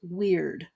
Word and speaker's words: Wyrd: Yeah, and the artist behind that is Gall's Weird. Okay, you gotta spell that.